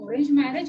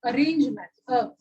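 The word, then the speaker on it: arrange marriage: इट्स नॉट ऑरेंज मैरिज, इट्स अरेंज मैरिज.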